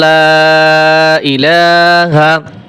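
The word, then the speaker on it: لَا إِلَٰهَ: লা ইলাহা লা তিন আলিফ টান দিয়ে হামজা ই শব্দটা উচ্চারণ হয় না।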